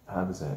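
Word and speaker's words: Habazin: Habazan. Yeah, Shields versus Habazan. Friday night. We can't even pronounce this girl's name.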